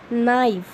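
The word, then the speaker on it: knife: नाइफ, ठीक है, आपको पता है ना कि के इसमें रीड नहीं किया जाता है, के इज़ साइलेंट।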